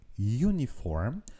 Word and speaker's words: uniform: un peu particulier donc quand je dis uniform on voit à l'écrit que le mot commence par une voyelle mais quand j'entends le mot la prononciation du mot et bien j'entends un y le son y donc e uniform et comme